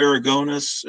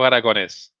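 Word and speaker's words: Aragonés: correct pronunciation of Sergio aragonus am I close to that yeah yeah in Spain it would be Sergio aragones okay all right you have you have to stress the the E A little yeah Sergio it's Sergio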